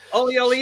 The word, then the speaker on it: Olly: Yeah, it's exactly how it appears. Olly and free.